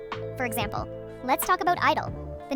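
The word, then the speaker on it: (G)I-DLE: For example, let's talk about Idol. The name is pronounced Idol, but the silent G is there to represent girl, making it Girl Idol or simply Idol.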